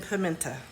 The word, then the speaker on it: pimento: Yes, I said pimenta, and I know it's spelled pimento, but pimento cheese is a staple in Oklahoma.